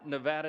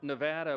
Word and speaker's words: Nevada: Um from my friends from Nevada, we are shaking. We're from Louisiana. Some people pronounce it Louisiana, so we always say Nevada and now it's supposed to be Nevada.